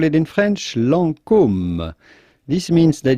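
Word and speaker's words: Lancôme: call it in french lancome this means that you have to close your mouth when you pronounce the o of lancome then comes it'd be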